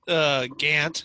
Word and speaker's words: Gant: So, Coach Gant, is that how you say it?